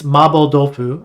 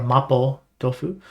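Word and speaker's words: 麻婆豆腐: Or if we are talking about this, I had this dish recently that it's mabo tofu. I say it with the Japanese pronunciation, which is a Chinese dish.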